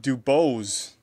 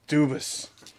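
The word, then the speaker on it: DuBose: this and say Grant dubos I'm pretty sure it's Dubois or something e du usually it's like ois oh yeah anyway six out of 99 that's Damian it's pronounced dubis Mr oh that's a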